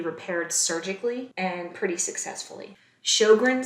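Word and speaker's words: Sjögren: surgically and pretty successfully shogren syndrome that's pronounced shogran syndrome this is a Sy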